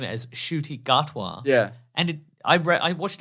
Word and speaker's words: Ncuti: So we've been told he's been telling people that the N is silent, but he learned recently it's not silent.